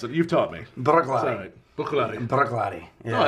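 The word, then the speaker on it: Bruichladdich: I've learned how to pronounce it. You've taught me. Brooklady.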